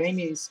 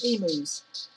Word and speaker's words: emu: Yeah, the spelling is E-M-U. Pronunciation is emu, but she was calling them emus, as in emos, emus.